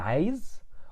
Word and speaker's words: عايز: Either I say أنا عايز or أنا عاوز. Sometimes you find some Egyptians say it like this, and some other Egyptians say it like this, and both are correct and common.